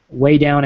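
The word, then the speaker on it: Weigh Down: It's Gwen Shamblin, Way Down at Home. And it's the way, it's spelled like weight, like your weight.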